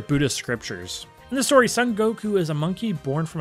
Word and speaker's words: Son Goku: Baiten Sun is also known in Japanese as Sun Wukong, pronounced Son Goku.